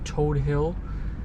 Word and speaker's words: Todt Hill: staten island more specifically we're in toad hill that's how i was told to pronounce it from my last video